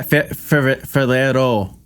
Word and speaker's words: Ferrero: I think it's called Ferro Rocher, but it might be something different. Spell that. Or Rochero. Ferro. Yeah, Ferrero.